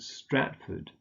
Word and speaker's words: Stratford: afford and german food but this is just pronounced as food yeah so oxford bedford stratford then there is born